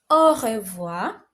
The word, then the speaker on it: au revoir: So it is read as au revoir.